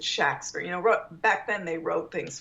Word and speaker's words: Shakespeare: He spelled his name pretty much with a short A, S-H-A-K-S-P-E-R, S-H-A-C-K-S-P-E-R, S-H-A-X-P-E-R, Shakespeare. So I think he really pronounced it Shakespeare.